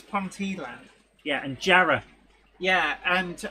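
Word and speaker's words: Jarrow: it's Pon yeah and Jara yeah and also it's spelled jarro but everyone calls it Jara cuz o w in a Northeastern accent is an a sound what about hke hke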